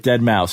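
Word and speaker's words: Deadmau5: Like Dead Mouse. Is he actually a dead mouse? No, he's a person who wears a thing on his head. It's not Mouse though. But that's how it's pronounced.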